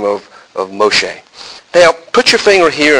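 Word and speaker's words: משה: The name Moses, or as it's pronounced in Hebrew, Moshe, is an interesting word.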